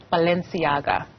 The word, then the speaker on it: Balenciaga: much for staying with us how do we pronounce the name of this fashion brand Balenciaga Balenciaga thank you very much for that so what